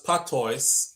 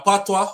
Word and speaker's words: patois: Cher says, St. Lucia spells patois and is pronounced patois because in French, the OIS is pronounced wa.